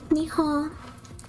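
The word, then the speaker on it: 日本: refers to them yeah japan is nihon and it's there's an end at the end i just pronounced that very faintly i'm gonna gulp this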